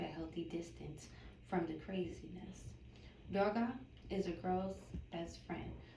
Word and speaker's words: Durga: Durga, pronunciation D-U-R space G-A-H, Durga. But how you spell the goddess name is D-U-R-G-A.